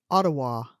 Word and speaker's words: Ottawa: I think they pronounce it Ottawa.